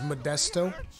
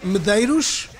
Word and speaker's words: Modesto: my last name is Modesto they can never get my last name right there like Medeiros no oh Sh no Modesto can